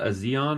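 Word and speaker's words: A'zion: But absolutely that that girl Odessa Azion or whatever how you say her name. Zion.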